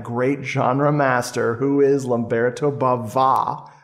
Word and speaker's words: Lamberto Bava: genre master who is lamberto bava with a little uh an extra accent on the a there one more incentive of